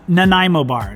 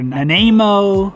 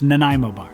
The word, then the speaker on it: Nanaimo: talking about the nanaimo bar and it is pronounced nanaimo bar not nanaimo or nanemo or nanaimo it's nanaimo bar these generally come out on a platter and